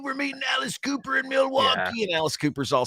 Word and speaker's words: Milwaukee: And actually, JJ, it's pronounced Milwaukee, which is Algonquin for the good land.